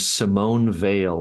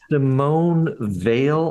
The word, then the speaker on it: Simone Weil: There's a really wonderful French philosopher named Simone Weil, and she graduated in the same class as Simone de Beauvoir, the French feminist.